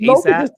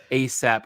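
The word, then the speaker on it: A$AP: Should I be saying ASAP? Say ASAP Rocky, but okay.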